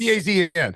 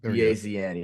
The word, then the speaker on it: DAZN: Also broadcast partners with NBC, LX, Peacock, and is it Dazen? I always get scared. I mispronounce it. Oh yeah. It's DAZN. How about that? DAZN.